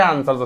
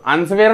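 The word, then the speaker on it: answer: इ आर असाच आहे आन्सरचा spelling spelling लिहिताना तुम्हाला असंच लिहावं लागेल पण उच्चार करताना असं करावं लागेल आन्सर आन्सेअर नाही चूक दादा राईट ठीक आहे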